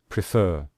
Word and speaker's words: prefer: When we say prefer, we say prefer.